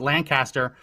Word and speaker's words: Lancaster: in the comment section joe says we pro pre-pronounced lancaster as lancaster i should have remembered that i grew up in new jersey i've been there tons of times i've been away from new jersey for years it is lancaster um it's not lancaster i shouldn't have pronounced